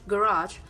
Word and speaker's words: garage: For instance, in American English, the word garage receives stress on the second syllable, while stress on the first syllable of garage in British English.